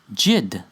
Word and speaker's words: Yid: cognate with the Yiddish word for Jew yyd which is really pronounced jid see the why is